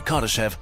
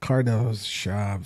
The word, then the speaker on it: Kardashev: Based on these facts, scientist Nikolai Kardashev developed a method of categorizing civilizations from cave dwellers to gods ruling over galaxies.